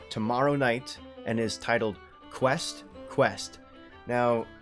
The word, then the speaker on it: Quest x Quest: night and is titled quest quest now the X in the middle I don't think it's pronounced as X because with Hunter hunter